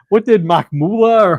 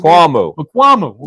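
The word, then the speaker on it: Israel Mukuamu: And what did Makmula or Israel Makmula, is that how you pronounce it? Makwamu.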